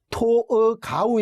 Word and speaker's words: 토르가우: 하나는 토로가 오라는 곳입니다 도기로 발음으로 토로가 오는 토가 우 에 가깝지만 한글로는 영어 발음에 영향을 받아서 토로가 5 또 노털 그라고 사용하고 있으니까 애청자 여러분들께서 인터넷을 검색하거나 또는